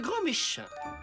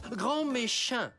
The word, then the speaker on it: grand méchant: votre professeur remplaçant monsieur grand Méchin veillez prendre place il est où Monsieur Ernesto attendez vous vous appelez monsieur grand méchant ça se prononce grand méchant et ça sera au